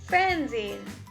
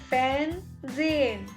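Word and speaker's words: fernsehen: means to read l-e-s-e-n lasen then we have fanzine fanzine f-e-r-n-s-a-h-e-n transient then we have spielin s p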